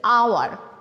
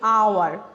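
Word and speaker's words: hour: দেখলে আরও ক্লিয়ার হব, আমি যদি বলি যেমন এটার প্রোনাউন্স হচ্ছে এইচ ও ইউ R, that means আওয়ার, আ যেটা হচ্ছে ভাওয়েল সাউন্ড। আমি আবার বলছি আওয়ার, যেটা হচ্ছে আ, দ্যাট মিনস ভাওয়েল সাউন্ড।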